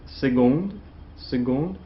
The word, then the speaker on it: seconde: We have seconde, pronounce the G here.